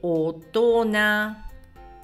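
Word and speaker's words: 大人: Mentre questo è tutto insieme si legge otona.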